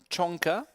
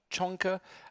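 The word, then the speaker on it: Csonka: we've got balash um chonka that's i i was corrected by baloch yesterday so excuse me for my pronunciation but the cs in hungarian is like a chair so it's ballas chunker against nino patiasville nino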